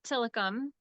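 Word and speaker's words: Tilikum: go you heard you've heard it from Claire tillicom tillicom is a Native American word it probably originated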